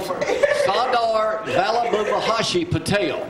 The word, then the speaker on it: Sardar Vallabhbhai Patel: Sardar Vallabhbhai Patel.